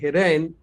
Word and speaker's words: Hiren: I hope I'm pronouncing your name correctly, Hiren, right?